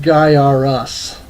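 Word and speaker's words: Gaiares: guy our as I remember the ads for this featuring the mullet kid says it's pronounced guy are us so sure why not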